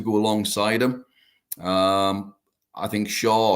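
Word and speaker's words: Schär: I think Shaw or Sher, whichever way you want to pronounce it. I believe it's Sher, actually.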